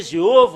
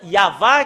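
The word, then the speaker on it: יהוה: Ça a changé Jéhovah ou Yahvé. Normalement, ça doit être Yahva qui doit prononcer.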